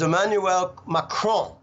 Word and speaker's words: Emmanuel Macron: So the way you pronounce it is Emmanuel Macron.